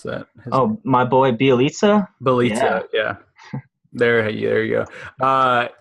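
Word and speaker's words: Bjelica: And the only really other guy that I'm interested in here for many is Jellica. How do you pronounce that? My boy Bielitsa?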